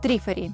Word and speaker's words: Trifari: Англоязычные коллекционеры обычно произносят название бренда как «Трифари».